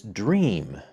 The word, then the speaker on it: Dreame: of this company is dream that is it's spelled like dream would normally be but it's got an e at the end d-r-e-a-m-e so let's see